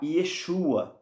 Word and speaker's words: Yeshua: verdadeiro nome do Salvador vão começar a falar Yeshua no aramaico você vê interessante depois